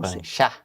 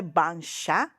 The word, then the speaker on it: bancha: ouço o noticiário C quando está escrito ch em japonês se pronuncia ti coloca um t na frente tá então por exemplo não é me dá um exemplo com banchá não é banchá mas é banchá coloca um tezinho na frente certo você popularizou também